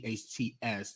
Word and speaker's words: Speights: For decades, Speights, that's how you pronounce his last name, has had access to many young girls, including his daughters and other relatives.